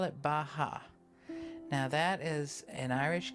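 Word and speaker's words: beatha: b-e-a-t-h-a but it's pronounced baja so when we breathe in i say ba when you breathe out i say ha now you don't need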